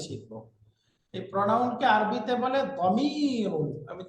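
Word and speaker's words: ضمير: এই প্রনাউনকে আরবিতে বলে দমিরুন। আমি 3 বার উচ্চারণ করছি, শব্দটা হবে দমিরুন, দমিরুন, দমিরুন।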